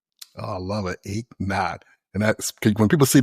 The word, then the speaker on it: Eknauth: So, it's achot like no pain. So, if you did not work out this morning, you ache not. Oh, I love it. Achot.